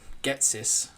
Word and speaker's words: Ghetsis: Not Gary, but the big bad guy of that game, Getsis. It Sounds like I'm saying get this. Getsis.